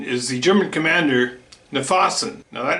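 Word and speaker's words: Knyphausen: yourself and give a shot um the other pronunciation is the german commander nafasan now that name has been slaughtered right and left is it kniphozone conniption i used to call him conniption just because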